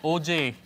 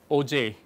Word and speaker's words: Auger: There's also a technique called OJ electron spectroscopy.